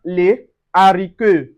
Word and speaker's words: les haricots: We also have les haricots. Les haricots. So, we don't say les haricots. No, on dit les haricots.